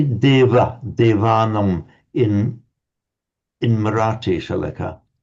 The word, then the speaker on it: deva: If we see a V. Um it's pronounced in certainly among the northern Indians um between vowels as something between a v and a is with the lips slightly together deva certainly that would be